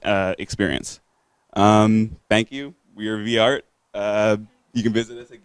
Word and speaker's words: V-aRt: It's pronounced V-art or VART?